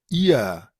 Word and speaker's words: ihr: Es esa que suena como IA, debido al uso de la R al final. eh, IA. ihr, eh, Vamos a poner por acá.